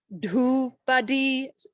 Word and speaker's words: dhupadi: So it's dhupadi, so long, short, long. So dhupadipanantaram.